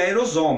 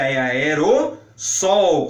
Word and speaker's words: aerossol: repórter ainda é fácil tem um deslize e pronuncia aerosol mas a pronúncia aerossol com dois ésses aerossóis no plural essa